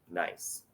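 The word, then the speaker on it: gneiss: find this in the rock called nice G NE I SS pronounced nice she's handing you a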